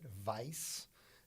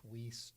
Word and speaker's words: Weis: is a story uh the last name w-e-i-s is german and it used to have a second s on it and in germany they pronounce it vice and i believe the